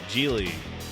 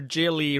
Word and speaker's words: Gigli: Gigli, or as the pronunciation on Wikipedia, Gigli, does not have rhymes with really.